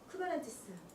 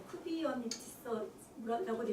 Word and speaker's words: Kubernetes: 그리스어거든요. 이게 그리스어다 보니까 많이 알려진 단어가 아니니까 사람들이 여러 가지로 쿠비어니티스라고도 있고, 쿠버네티스라고도 있고, 쿠비니테스라고도 있고, 뭐 여러 가지 뭐 자기들 마음대로 읽었었죠.